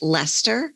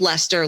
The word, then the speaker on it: Leicester: There's a popular one that's called blue-faced Leicester. Oh. And it's spelled Leicester like the town.